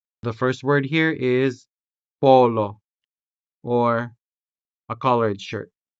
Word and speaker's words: polo: These words are spelled with the letter o, and this o is sounded with the vowel o. The first word here is polo or a collared shirt. polo Next, corazón corazón to mean heart.